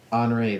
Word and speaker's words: Henri: During Grace, we also had Henri. I think that's how you say it. Yes. Henri, that is Which correct.